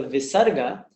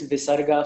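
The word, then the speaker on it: विसर्ग: sometimes you find this visarga following a particular vowel. And that is pronounced just like a release of the breath.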